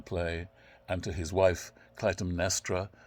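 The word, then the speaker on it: Clytemnestra: are in the play and to his wife Clum nestra not the easiest of names to pronounce so I will you'll hear me repeating it and I hope you can follow it and her as Clum nestra um and comes home to her although alas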